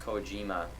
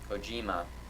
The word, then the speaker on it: Kojima: It's pronounced Kojima. Kojima.